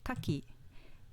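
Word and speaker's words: 牡蠣: compare ima example three kaki meaning oyster with an accent on the first mora kaki meaning fence with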